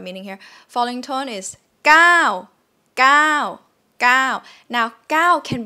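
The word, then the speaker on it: เก้า: sound is number nine gao gao but you can see in thai script it's ow right it's a short vowel but how come it's pronounced long it's supposed to be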